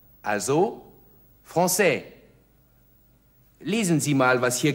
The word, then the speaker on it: français: spre parle parle franis sie sehen das kleine Zeichen unter dem C von franais Li bedeutet nur dass das C nicht Vik ausgesprochen wird sondern wie s also franis lesen Sie mal was